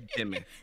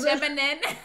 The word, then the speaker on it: Jimin: Did you say Jimin? Right, anime. Jiminin? We could check like Gemini, but Jiminin? Yeah. Not the Minin. Wait. It's Jimin. Jimin? Oh, okay. She said Jiminin.